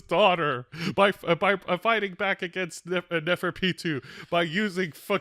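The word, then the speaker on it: Neferpitou: who was on the Neferpito, or however you pronounce the name. Neferpitu.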